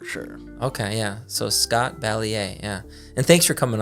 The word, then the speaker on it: Balliet: Uh, Balier. Balier. Okay. Nice. Okay. That's how the younger generation is is how pronounces it pronounces it.